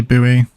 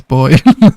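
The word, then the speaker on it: buoy: We say Bowie. Nah, it's boy. There you go. There's someone breaking the status quo. I don't think no one knows, is it? It's lost knowledge. I've never heard it pronounced Bowie. I've heard it pronounced like that, Rich, but I really don't agree with it.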